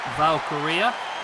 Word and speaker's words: Valkyria: Blair, Davenport and Lyra, Valkyria.